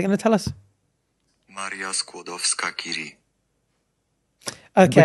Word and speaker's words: Skłodowska-Curie: Maria Skłodowska-Curie. Okay. Which is exactly what I've been saying, actually. So. Yeah, but it's spelled like Sklodowska. Anyway, I'm probably butchering that pronunciation.